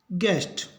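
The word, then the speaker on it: guest: एस टी इसको पढ़ेंगे गेस्ट तो इसको दोहराते हैं पहले गा गैस गैस्ट गड गैस गेस्ट तो जी के बाद यदि यू हो तो यू का उच्चारण नहीं होगा यू रहेगा साइलेंट अपने पढ़ते हैं पी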